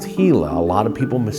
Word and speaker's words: Gila: It is pronounced Hila. A lot of people mistakenly pronounce it Gila, but it's Hila, named after the Hila River.